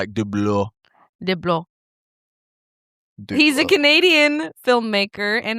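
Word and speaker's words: DeBlois: Dean Deloy. 55 years old. That's like the American way of saying it. Yeah. Delis, but the actual like pronunciation of it is like dlo.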